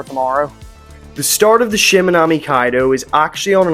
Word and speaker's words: Shimanami: So, with a quick navigational lesson from my new friend here, and a humbling lesson that is actually pronounced Shimanami, unlike how I said it in the intro, it was again time to hit the road.